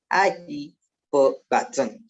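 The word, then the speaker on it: hyperbaton: The word hyperbatten, it is pronounced as hyperbatten, is derived from a Greek phrase hyperbatus, and the meaning of hyperbatus is transposed or inverted.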